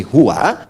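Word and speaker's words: هو: Bismillahirohmanirohim baca Quran itu kalau kita ingin berhenti di Hua maka a-nya enggak dibaca contoh ayat kursi al-baqarah ayat 255 Allahu laa ilaha illa huwal hayyul Qayyum itu kalau nyambung Kalau berhenti di hu bacanya Who jangan dulu ke situ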